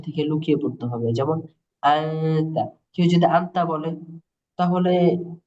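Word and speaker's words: أنت: এটা কোন পার্থক্য না যেমন হাফ নুন জবর তা জবর তা আন্তা এরকম হওয়ার কথা ছিল এটা মূলত হবে একটু গুন্না হবে এই নাকের বাঁশি থেকে লুকিয়ে পড়তে হবে যেমন আনতা কেউ যদি আনতা বলে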